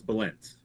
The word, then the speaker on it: Bálint: Yeah, so the pronunciation, it's Bálint. Bálint.